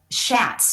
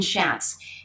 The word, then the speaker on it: Schatz: Now, this guy, the duper's delight here, is Schatz. Yeah, that's how I pronounce his name, Brian Schatz.